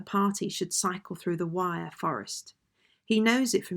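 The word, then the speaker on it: Wyre: was that the party should cycle through the wire forest he knows it from his time as a clergyman when the family lived at enville in the 1880s he regards the wire forest as one of the few virgin forests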